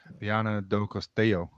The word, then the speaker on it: Viana do Castelo: So, the Formula Kite uh Worlds, which are on in Viana do Castelo Did I pronounce it even close there, BP? Viana do Castelo.